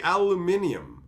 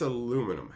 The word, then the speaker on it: aluminium: Like, Kelly, you like how the Brits say, oh yeah, they say aluminium, right? And you just go, you put an extra I in there or something? Like, you're putting extra letters in there. That's aluminum.